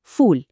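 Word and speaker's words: فول: আরবিতে এই মিশরীয় সিমকে বলা হয় ফুল। আর এর উচ্চারণটা ইংরেজি ফুল শব্দটার মতো।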